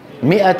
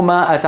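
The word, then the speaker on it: مائة: 00 قال بل لبثت 100 عام مو ماءه عام انتبهتوا فتكتب ولا تلفظ فحتى لا يلفظها احد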